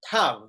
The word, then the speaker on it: Tav: Tav, that's how you spell it.